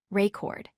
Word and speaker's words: record: used as a verb, reCORD. This time, the stress falls on the second syllable, cord. We say it is reCORD with emphasis on that last syllable.